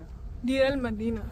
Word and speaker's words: Deir el-Medina: Deir el-Medina, sorry.